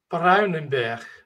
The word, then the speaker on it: Bruinenberg: How do we pronounce, your name? you said it right. And the last name is Bruinenberg. Bruinenberg.